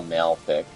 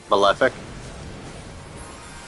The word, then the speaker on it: Malefic: I don't like the name of the spell malic malefic yes I pronounced it wrong that's why it's wrong I